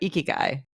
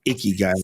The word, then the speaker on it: ikigai: done an episode about ikigai did I say that right I'm always getting Iran no you actually said it right when people say icky guys I'm gonna punch him in the face probably like 50 on